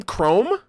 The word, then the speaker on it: CRWM: would that be team chrome crwm pronounced chrome and obviously chrome being uh being a color yeah i'll allow it